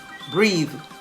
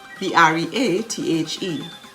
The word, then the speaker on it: breathe: such as age a-g-e breathe b-r-e-a-t-h-e please p-l-e-a-s-e the last e in all of those words age breathe and please is silent how about silent g